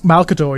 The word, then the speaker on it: Malcador: Have I pronounced that correctly? Malcador.